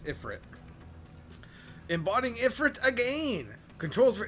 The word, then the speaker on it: Ifrit: It's Ifrit.